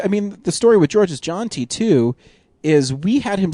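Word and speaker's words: Georges Jeanty: And so we talked to George's, and we found out his name is pronounced George's John T, which we were always really concerned about.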